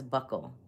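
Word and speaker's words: buccal: So, like my friends that are like medical will say bugle where I learned it from, but she did have a Syrian accent. Um, she said ble, but the dental community says buckle.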